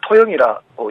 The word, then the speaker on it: 통영: 그러니까 통영을 토영이라고 현지 분들이 네. 이제 발음하는 것과 같은 거죠.